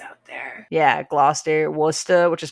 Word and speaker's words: Worcester: super easy the names out there yeah Gloucester Worcester which is spelled like warchester glass Chester I just discovered the other day